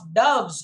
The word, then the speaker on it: doves: white breasts peep of doves in silver feathered sleep doves is the right sound the pronunciation it's not dogs doves and there is a